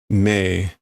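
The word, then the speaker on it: 盟: Okay, so what's the pronunciation? Mei.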